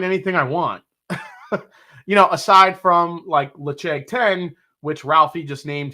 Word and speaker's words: Ledaig: It looks like Ledaig 10, Ledaig, but it's pronounced Lecheg 10.